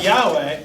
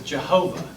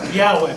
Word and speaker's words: Yahweh: when they came to the word Yahweh they put in the wrong balance on to protect you from accidentally saying and they've got they put in scholars when you figure this out about a hundred years ago and the wrong vowels they put in made it look like it was Jehovah but now they understand it's not Jehovah this yeah that may